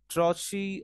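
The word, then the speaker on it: trochee: Now what is trache t-r-o-c-h-e tokyotrachi trochi or trochi means to say it's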